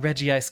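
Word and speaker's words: Regice: say its name but Reggie ice clearly splits up the eye into two separate syllables when it says its own name I loved them I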